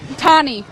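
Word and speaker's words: Tahnee: Tonnie. Can you spell that for me?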